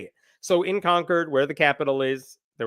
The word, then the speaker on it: Concord: I was told, by the way, it's not pronounced Concord, it's Concord, and that's the way the locals say it. So in Concord, where the Capitol is, there was a nativity.